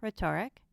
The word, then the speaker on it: rhetoric: Silent H of RH, as in rhyme, rhetoric.